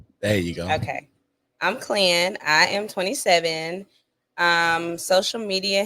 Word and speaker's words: Clen: I'm Clan.